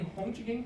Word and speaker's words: Röntgen: Primeiro a gente tem Röntgen, que é a pronúncia do alemão, que ele fazia trabalhos com o tubo de Crookes, é isso?